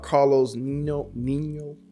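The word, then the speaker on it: Carlos Niño: Carlos Nino is how you say that.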